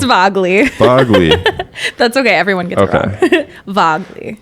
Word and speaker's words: Vagel: alicia grace and jenna vogel vo i said it wrong again oh no it's vogley that's okay everyone gets